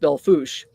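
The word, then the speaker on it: Belle Fourche: Um, but it's pronounced Beluch.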